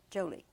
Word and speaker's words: Jolie: The emphasis on the Joe. Jolie.